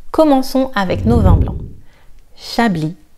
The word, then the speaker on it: Chablis: Chablis, Chablis, le S est silencieux. Chablis.